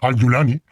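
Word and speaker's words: al-Julani: hace Llamar abu muhammad al gulani o al gulani según la pronunciación el árabe tiene varias pronunciaciones dialectales Parece que la pronunciación Siria es al julani Aunque la más estándar es al dulani este señor que fue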